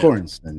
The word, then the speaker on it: Göransson: So I do think Ludwig, how do you pronounce the last name? Göransson? Yeah. Göransson.